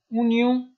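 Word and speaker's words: oignon: و دوستا اینجا ببینین پیاز کم تلفظ متوجه، دقت کنین به تلفظ، چون او قسمی که نشته میشه تلفظ نمیشه، بنان تلفظ پیاز باید دقت کنین که میگن اونیوم یعنی پیاز. این آخر تلفظ نکنین و اونیوم یعنی پیاز.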